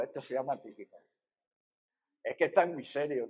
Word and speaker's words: Tíquico: que no ¿cómo se dice uno que es tísico? No, Tíquico, esto se llama Tíquico.